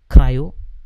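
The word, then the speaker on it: CRI-O: Then second is a CRIO, cryo will call, which is a container D.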